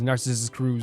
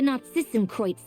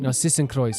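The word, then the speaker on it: Narzissenkreuz: How did she pronounce the this as well? Because I've been pronouncing it as Narcissus Cruise this whole time.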